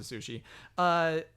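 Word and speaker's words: Sushee: So it's like sushi, but it's sushi. They pronounce it sushi.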